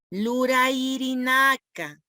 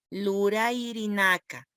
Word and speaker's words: lurayirinaka: Y verbos en Aymara quiere decir lurairinaka. Así se dice, lurairinaka.